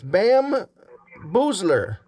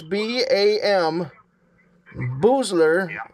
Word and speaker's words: Bam Boozler: It's Bam Boozler. B-A-M, Bam. Spell it, sir. Slowly and loudly. Oh, spell it. Yeah, Bam is B-A-M. Boozler is B-O-O-Z-L-E-R.